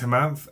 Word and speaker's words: Hemanth: My name is Hemanth and not everyone gets that straight away. When I introduce myself, I often often need to clarify by saying my name is He-Man with a th.